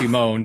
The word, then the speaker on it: Simon: Well, they pronounce it Simone, but oh my god, that makes it perfect.